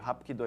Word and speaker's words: Hapkido: com os mesmos ideogramas, só que a pronúncia no coreano, que Hapkido é de origem coreana, é Hapkido e no Aikido é o Aikido.